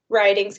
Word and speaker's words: Ridings: a friend and a fellow tick talker writings i've never said your last name out